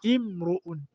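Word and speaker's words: امرؤ: Jina la nne tunalolichukua ambalo limeanzwa tena na hamzatul wasl ni imruun. Imruun, mtu. Imruun manake mtu. Na jina hili linatamkwa kwa dhumma imru'u, yani kwa hali ya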